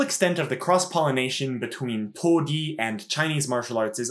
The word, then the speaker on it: toudi: Karate, of course, is a modern pronunciation of what in the Okinawan language would have been pronounced to-di, a phrase which is